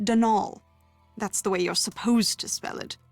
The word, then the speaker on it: Donal: caretaker Donald Delaney not Donald mind you there's no D at the end so it's pronounced danal that's the way you're